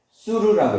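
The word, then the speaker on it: סור: 떠나다라는 말은 수르라고 해요. 수르 이렇게 쓰거나 또는 수르 이렇게 써요. 똑같이 수르라고 발음을 해요.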